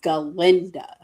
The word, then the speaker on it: Galinda: So instead of calling herself Glinda, she calls herself Galinda.